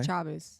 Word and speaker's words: Chavis: about Dr Patrick Chavis Patrick Chavez sha Chavis or Chavis it's spelled c h a v i Chavis okay Chavis Chavis so he actually um